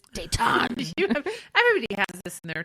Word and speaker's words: Dayton: it's like stop pronouncing the t it's